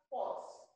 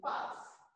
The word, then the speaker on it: pass: You won't, this is not pronounced as pause. It is pass because you have this sound, the ah sound here.